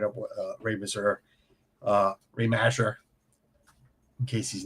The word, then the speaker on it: Mazur: Right up with Ray Mazur, Ray Masher. In case he's ninja listening, I get yelled at. I didn't get yelled at, but I don't pronounce it correctly. I'm sorry. It's Mazur. It's Mazur.